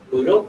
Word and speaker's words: Moodle: Moodle, Moodle. Okay, I didn't know. Like noodle with an L. Yeah, it's like Moodle with an M.